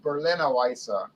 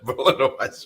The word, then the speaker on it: Berliner Weisse: And by the way, it's pronounced Berliner Weisse. Yes, Berliner Weisse.